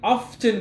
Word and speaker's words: often: to the market yeah often often teach you which one is better the one which is better is with the silent t silent without it means i often go to the market in the morning this one is better it means silent tea yeah silent british pronunciation exactly that's it i